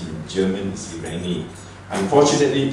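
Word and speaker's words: Irene: Irani is actually IR i n e but pronounced in German is Irani unfortunately P Street Irani could not be with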